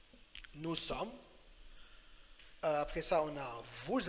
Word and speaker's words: sommes: ES muet, alors nous sommes. So the last letter is silent. Some, the last two letters are silent. Nous sommes.